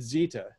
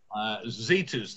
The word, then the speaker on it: Zeta: is a light burn zeta or is it zita as should i be saying zeta's the proper pronunciation it is a light